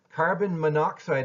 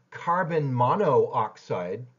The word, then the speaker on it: carbon monoxide: pronunciation is contracted notice carbon monoxide is not carbon mono oxide which would look like